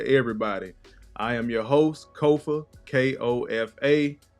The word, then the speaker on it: Kofa: your host Kofa k-o-f-a it's phonetic it's only four letters people still up my name it's okay kofo rhymes with sofa it's not Kofi not Khufu not coffee or any variation thereof once again this is